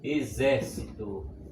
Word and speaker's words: exército: Vamos colocar também a palavra exército. Exército. Sempre lembrando que é na antepenúltima sílaba.